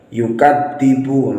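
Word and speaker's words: يُكَذِّبُ: ara'aital ladzi yukadzibu biddin, yang mana huruf dzal di sini seringkali diganti dengan huruf dal, yukadzibu. Nah, ini kesalahan yang sangat fatal. Mengapa? Karena merubah huruf dzal menjadi huruf dal. Harusnya yukadzibu, yukadzibu, bukan yukadzibu.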